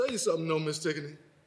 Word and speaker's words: Tigonie: Tigonie, but my friends call me. Tigonie.